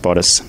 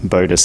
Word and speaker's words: bodice: doing this interview and it's pronounced bodice not bodus as I was going